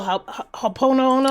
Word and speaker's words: Ho'oponopono: So the Hawaiian prayer, and you say it Oponopono or? I can't pronounce it too well. Ho'oponopono.